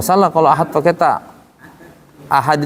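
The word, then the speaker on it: أحد: Ahad itu pakai dal. Iya, kita pakai ta. Dia pakai ta. Qul huwallahu ahad. Nah, salah. Harus qalqalah. De.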